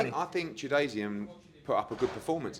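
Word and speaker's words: Chudinov: Tchoudinov.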